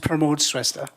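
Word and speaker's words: Pramod Shrestha: this next name uh promote shista very very close it's pronounced promote sesta okay thank you mayor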